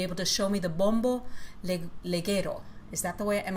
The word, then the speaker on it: bombo legüero: You said you would be able to show me the bombo leguero. Is that the way? Am I pronouncing it right? And bombo, it's a percussion instrument. Yes, it's called bombo legüero.